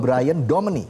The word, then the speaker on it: Brian Domani: Benar bacanya ya, Brian? Betul. Brian Domani. Brian Domani ya. Domani, oke. Domani kayak Indonesia juga, Domani.